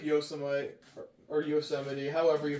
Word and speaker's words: Yosemite: another really big track wait that's how you pronounce that Yos yosity you said Yosemite y like Y national park yeah featuring gun and